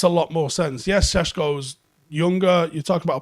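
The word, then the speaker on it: Šeško: uh for you know i would pronounce it again sheshko um makes a lot more sense yes cesco's younger you talk about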